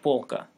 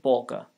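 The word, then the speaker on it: полка: at another example and polka polka means shelf the l is velarized like the english word ball it's not bal with a plane l but ball with a velarized one same for russian polka polka though means polish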